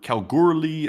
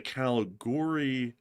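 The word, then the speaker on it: Kalgoorlie: And please check out the Calgur Calguri Railway Museum. It's not big, but it's a significant part of the history of Washington and the goldfields." The Calguri.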